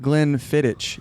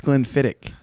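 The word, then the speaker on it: Glenfiddich: it's glenn levitt and it's not glenn fittich it's glenn fittick it is i learned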